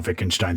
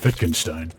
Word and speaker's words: Wittgenstein: those trickeries of the German language where the W actually sounds like a V so yeah a lot